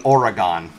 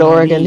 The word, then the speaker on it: Oregon: Oregon is Oregon yeah it's supposed to be Oregon we pronounce it Oregon here these are similar to like how people